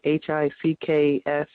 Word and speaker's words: HCPCS: HCPCS is pronounced, the acronym HCPCS stands for Healthcare Common Procedure Coding System, and it's spelled, well, it's pronounced, if you would try to spell it, it's HICKS, PICKS, HCPCS.